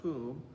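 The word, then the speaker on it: Cwm: is called kumaranda it's spelled c-w-n but it's pronounced kum and then rhonda h-r-o-n-d-d-a we call it rhonda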